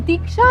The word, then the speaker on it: दीक्षा: एक मिनट एक मिनट तुम मुझे रिक्शा क्यों बुलाते हो मेरा नाम दीक्षा है दीक्षा दीक्षा दीक्षा